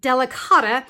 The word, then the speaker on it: Delicata: The last ink I want to talk about, I believe it's pronounced Delicata, and this is also a pigment ink.